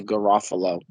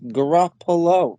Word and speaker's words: Garoppolo: there's still people that I know that can't pronounce Garoppolo, and they say Garofalo, and I'm like, it's That's peas. Janine Garoppolo. I'm like, they're peas, Garoppolo, and like, Maybe if they think there's an